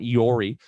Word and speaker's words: EORI: not going to matter an eori number or an iori as some people pronounce it is effectively a passport